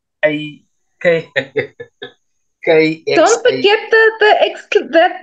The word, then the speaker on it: Kxam: But it's Kxam. Don't forget that not the exclamation. It's that upward, not a forward slash, backward slash. It's a whole pronunciation. That. So that's a click.